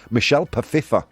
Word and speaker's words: Michelle Pfeiffer: My first crush was Michelle Pfeiffer. That's how it's pronounced.